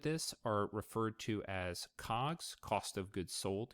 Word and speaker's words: COGS: are referred to as cogs cost of goods sold you'll see that abbreviated as cogs or pronounced as cog the goods could refer